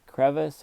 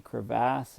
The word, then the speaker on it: crevasse: greenland ice sheet of a crevice or crevasse i guess you say crevasse is a proper pronunciation and if you fall